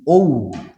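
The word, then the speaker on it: owe: You have neglected the duty you ও to your self, মানে ওই মানে ঋণী, ও, এটার উচ্চারণ ও, ও মানে ঋণী।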